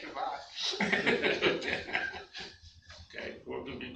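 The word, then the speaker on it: שבת: Shabbos. You give me the Ashkenazi pronunciation to make me feel at home. I know, I didn't want to hurt your feelings. Say Shabbat.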